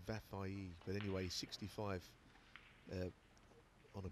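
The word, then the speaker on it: Vafaei: I was saying, I've been told how to pronounce it, Vafai, I think it is. Vafai, I've been saying, but it's apparently Vafai.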